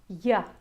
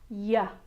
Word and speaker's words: yeah: The Y consonant sound "yeah" is very difficult for native Spanish speakers - yeah yeah. The Y sound is best practiced in an exaggerated way so that you can remember how your muscles feel when you pronounce it. So let's practice using our hands - when you make the yuh sound your sides of your cheeks should actually cave in a little bit.